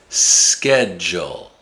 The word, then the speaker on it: schedule: The d usually makes a j sound when it's followed by the letter u. Education. Graduate. Schedule.